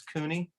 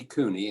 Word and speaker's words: Cuni: project and uh our guest today is cooney uh can you say your full name and where you live right now it's cooney and my last name is spelled c-u-n-i i